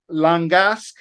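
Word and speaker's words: Langasque: but it's uh Romaine langaske it's the line and then gasque is how you how you say that properly he's 6900 uh let's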